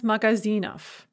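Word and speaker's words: магазинов: So magazine becomes magazinov. Note that we write o ve, but because the ve is in word final position, we pronounce it fa.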